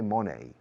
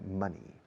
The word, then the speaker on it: money: money money money remember money rhymes with funny not with bony we don't say Monet we say money the little gracios of